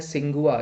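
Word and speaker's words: Tsinghua: इसका नाम है सिंगुआ, ये सिंगुआ कर लीजिएगा, आपका टी साइलेंट रहता है यहाँ पे।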